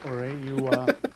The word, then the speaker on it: Uri: Uri, it's the right pronunciation.